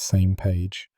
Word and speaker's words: SMAG: SMAG, pronounced same page, is an international forum of space agencies designed to coordinate any necessary asteroid deflection missions.